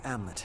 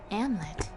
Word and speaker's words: Amleth: Amlet. Why is there an H at the end of his name if you're not going to pronounce it as Amleth?